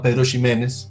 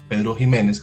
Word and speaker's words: Pedro Ximénez: uva que se llama Pedro Ximénez, o Pedro Jiménez, como quieran pronunciarlo.